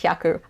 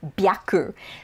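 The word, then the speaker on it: 百: becomes babi boo bebo so words like haku when you're combining it with different numbers before it sometimes just for ease of pronunciation it becomes voiced so um is just hundred it stays yaku but if you when you get to 300 it becomes some biaku and the reason that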